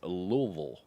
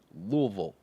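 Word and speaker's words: Louisville: see you you know it's pronounced louville right louville it's not l come on all right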